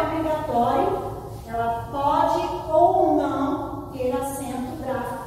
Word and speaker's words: pode: A pronúncia pode, som aberto.